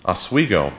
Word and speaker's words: Oswego: She certainly considers herself a Westerner, herself, having grown up in Portland and near Lake Oswego. Is that how you say it? Oswego. Oswego in Oregon, nearby the Latter-day Saint Portland Temple there.